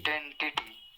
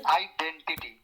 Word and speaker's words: identity: आइडेंटिटी, टिटी, टिटी kitty जैसे होता है उस तरह से प्रोनाउंस होता है, आइडेंटिटी, Identity. ठीक है। Identity.